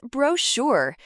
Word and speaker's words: brochure: Question 10 answer is brochure. Note, ch sounds sh, spelling b r o c h u r.